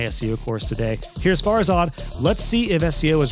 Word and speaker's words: Farzad: pronounce that correctly so the emphasis is on far right far as odd bars that's right and